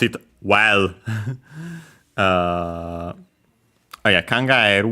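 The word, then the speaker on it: 考える: Uh Oh yeah, kangaeru wanted to mention the accent accented on the e technically. I think we might have seen it there's the variant also with the accent on the ah. It depends if you consider ah eh a diphthong or not.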